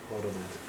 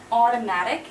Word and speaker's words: automatic: yes so it's re factoring factoring okay never mispronounce this word this is hosting hosting hosting right hosting AO automatic okay so remember Au U are often like an O so it's automatic and automation it's not ow never ever this